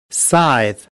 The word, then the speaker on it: scythe: Skithy? Skahythy? Scut? How do you say it? Scythe of Quakes. Scythe of Quakes. Step 1. Learn how to pronounce Skoitihi? Scythe.